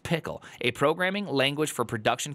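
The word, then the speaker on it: Pkl: announce that open source first release of pickle pronounced pickle a programming language for production configuration I'm very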